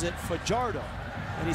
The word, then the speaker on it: Fajardo: gating now many would pronounce his last name Fajardo he pronounces it for jarred oh and he said he does that because as